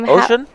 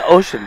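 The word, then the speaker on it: Ouschan: Ocean? Is it Ocean? Okay. So it's just like the ocean?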